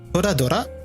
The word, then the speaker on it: Toradora: Which I did not pronounce right there. Toradora.